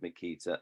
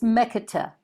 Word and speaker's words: Mekita: Firstly, just a pronunciation thing. It's Mekita. Or Mekita, Shava in Hebrew, the Shava is the way it's pronounced.